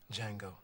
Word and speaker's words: Django: rambunctious sword ain't he what's your name django the d is silent and we are here